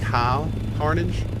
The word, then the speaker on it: Cohhcarnage: It's actually pronounced cow carnage.